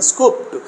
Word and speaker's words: scooped: and we have to pronounce them as T sound, not here, this is P, T, S-C-O-O-P-T, like that. That is a scooped, like that here.